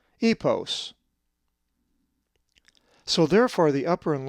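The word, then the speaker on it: ἵππος: If you said epos, you are correct, for the accent is over the iota, epos.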